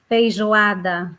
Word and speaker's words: Feijoada: How do you pronounce that? Feijoada.